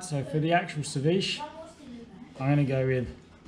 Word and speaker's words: ceviche: into strips this way my colombian co-worker was very grumpy in me calling it ceviche to be pronounced ceviche thanks rodrigo and we'll chuck that